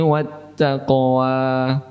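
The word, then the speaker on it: وَالتَّقْوَىٰ: Wattaqwa hanya terdiri dari dua harakat, mohon jangan melebihinya. Wattaqwa memang terdengar bagus jika dibaca panjang, tetapi itu salah.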